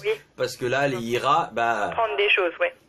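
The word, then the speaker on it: hijras: Moi, je dis IRA parce que le J se prononce peut-être R en espagnol. Dimitri, j'attends ton WhatsApp audio pour m'expliquer ce que sont les IRA.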